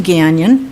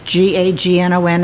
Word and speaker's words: Gagnon: Um, my name is Gon. It's G A G N O N. It's pronounced like canyon with a G, not Gagnon, which is a very choking sensation.